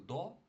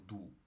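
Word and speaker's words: do: Воно читається не як до, а воно читається як ду.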